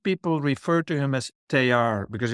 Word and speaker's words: Teilhard: And both about your teacher and thank you for also correcting my pronunciation of Oh, Teilhard.